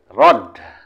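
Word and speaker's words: رد: Rod terakhir. Ya, rod. Nomor 3. Saham ya. Saham. Ini yang terakhir. Yang terakhir apa? Rod. Ditulisnya rad. Dibacanya rod.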